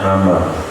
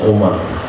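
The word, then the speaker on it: عمرو: Kalau ada wau di ujungnya itu bacanya Amar. Kalau enggak ada wau ujungnya bacanya Umar.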